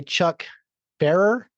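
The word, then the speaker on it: Chuck Pfarrer: Written by Chuck Farer. I'm guessing that's how you say his name. The P is silent.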